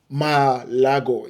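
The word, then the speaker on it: Malagò: But Maldini, who had only been handed the power to choose the coach 2 weeks earlier, and Leonardo overruled Malago Malago. Yeah, that's how you pronounce it.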